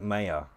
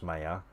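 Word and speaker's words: Maya: paid for programs like mayor I think it's pronounced mayor and that mayor is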